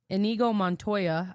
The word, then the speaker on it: Inigo Montoya: Inigo Montoya, is that how you say it?